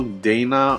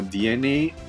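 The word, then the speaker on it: DeNA: As usual, Dana or DNA, depends on how you want to pronounce their company name, they would have definitely certain things not featured here in the information.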